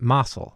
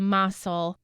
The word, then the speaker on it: Mossell: So we're choosing to pronounce the name Mossell as the family does.